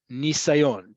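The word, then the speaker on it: ניסיון: to see this word, it's going to have a yud. Nisayon, to indicate and make sure that you pronounce it as nis.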